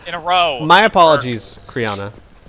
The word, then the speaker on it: Criana: You mispronounced the name again. I said Karina, I just said it very fast.